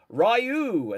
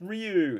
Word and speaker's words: Ryu: The character goes Rayu. And so I'd never heard it said out loud. That's all I knew. And the amount of people that was like it's pronounced Ryu.